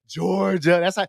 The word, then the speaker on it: Georgia: You got to put it like make it two syllables, like split in the middle as if it's two separate words or whatever.